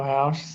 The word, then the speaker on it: haux: Muito house, Solagria, as we say in the Amazon.